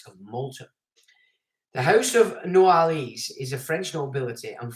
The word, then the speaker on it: Noailles: Prince Hila de Noailles is the head of this family and has worked in the French government as an advisor.